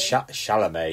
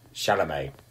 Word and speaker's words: Chalamet: Chalamet. Yeah, I didn't know if you meant. Yeah, I didn't know if you meant that one or Timothy Oliphant, who was in Deadwood. Definitely Timothy Chalamet.